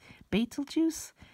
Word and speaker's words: Betelgeuse: paper entitled the fainting of the nearby supergiant petal geese he told CNN that oh it's pronounced Beit el baitul juice is that like Beetlejuice okay they named it